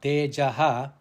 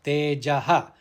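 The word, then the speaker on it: तेजः: The visarga on tejaha, it is followed by the letter ksha, that is kshama. So tejaha, it should be pronounced tejaha, not teja kshama.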